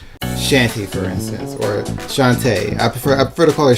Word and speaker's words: Shantae: characters that were like shanty for instance or Shantae I prefer a protocol a shanty even though it is pronounced Shantae Sheva Nelson arrogant like that but